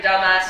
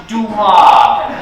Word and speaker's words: Dumas: Alexander, dumbass, you know. Yes, I know, but it's pronounced Dumas.